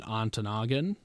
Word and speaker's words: Ontonagon: And that is in Ontonagon, is how you say it, or Silver City.